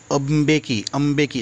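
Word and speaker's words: Mbeki: Mister टैबो मेबेकी, इनका नाम pronounce करना थोड़ा डिफ़िकल्ट है, यानी ये एक्चुअली जो एम है वो अ के उपचार में लेना पड़ेगा, इसे अम्बेकी, जैसे अम्बे बोलता है माँ अम्बे, वैसे ही अम्बेकी।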